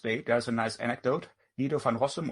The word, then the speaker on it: Guido van Rossum: Guido van Rossum, or probably if you pronounce it Dutch, it's Guido van Rossum.